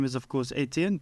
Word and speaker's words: Ettiene: My name is, of course, Ettiene. The H is silent.